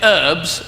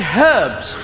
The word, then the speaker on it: herbs: You say basil, we say basil, and you say herbs, and we say herbs, because there's a fucking H in it.